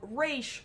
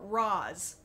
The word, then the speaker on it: Ra's: realize that there are some people who would prefer the pronunciation of Raish over Raz.